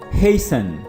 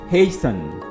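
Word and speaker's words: hasten: है सफन नर्म करना हेसन this word is हेसन हेसन टी E silent hair हेसन जल्दी करना सिगनेचर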